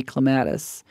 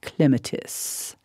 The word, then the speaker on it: clematis: There's an old poem, because it climbs on a lattice, the hoi polloi say clematis, but Webster will not cease to hiss until we call it clematis.